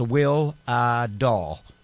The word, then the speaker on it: Wihlidal: YouTube it's w-i-h-l-i-d-a-l and it's pronounced will uh doll which is close enough I guess I suppose so um